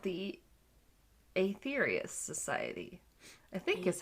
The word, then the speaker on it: Aetherius: Like these guys who are called the Aetherius Society, I think is how it's pronounced. Aetherius. Yes, A-E is why I'm saying Aetherius.